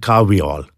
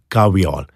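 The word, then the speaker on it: kahweol: And amongst those constituents, there's something called caveol. There's another item called... How do you spell that? K-A-H-W-E-O-L, caveol.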